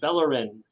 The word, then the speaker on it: Bellorin: Central Florida and my guest today is Jennifer bellerin is that how I pronounce that your name yes yes Jennifer bellers